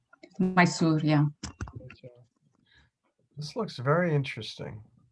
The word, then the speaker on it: Mysore: Mysore? Mysore, yeah.